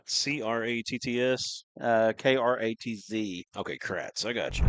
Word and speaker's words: Kratz: 21 is Katz. Trace Bussell just keeps sending me cash app. I appreciate it, Dollar. Katz. Kratz. Kratz. C-R-A-T-T-S. K-R-A-T-Z.